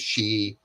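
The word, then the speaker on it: Sheehy: And I like to see Tim Shee, I'll pronounce his name is Shee, is also very successful business owner, very now he's a successful business owner, but he's also was in the military.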